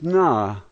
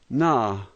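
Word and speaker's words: на: Here we have what looks like a letter H, and that is the N sound. A is pronounced A, and so this word is na, na.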